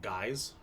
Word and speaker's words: Guise: And Mary of, I think it's pronounced Guise. It's spelled like Guise. Guise. It's French.